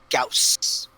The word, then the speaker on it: Gauss: The dog is named Gauss, That's right. because that's how you actually pronounce that word. Gauss. Now I'm going to do a meme of the two different pronunciations with the blonde chick yelling at the cat. Alright. Because I'm an old Battletech player, and that's not how we pronounced it.